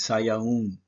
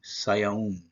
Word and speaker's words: Sivan: Like I say, the correct pronunciation is Sayaun, Saya, and then it's a Wa, Zoom, and that's an N, Sayaun.